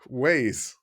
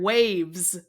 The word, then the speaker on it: Waze: Waze. Can you spell that? WAZE. Okay. Because I heard waves. No, I didn't put no V in there.